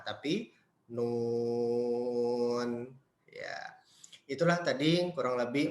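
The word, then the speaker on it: ن: Bukan dibaca na, tapi Nun. Ya. Itulah tadi kurang lebih 14 cara baca di awal surah ya yang mesti kita ketahui cara membacanya dan terdapat di beberapa surah.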